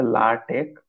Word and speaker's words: LaTeX: তো আচ্ছা, আমরা যে ল্যাটেক্স বলতেছি, একটা মজার বিষয় হচ্ছে ল্যাটেক্স এর প্রোনাউন্সিয়েশনটা হচ্ছে লাটেক অর লেইটেক, এইভাবে উচ্চারণ করা হয়।